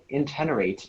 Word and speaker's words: intenerate: The plant extracts help intenerate and moisturize the skin. Are there any alternate pronunciations? Intenerate is the only one I have.